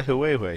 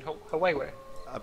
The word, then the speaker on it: Huawei: I mean, isn't that by Huawei, who also make the Nexus for the Google?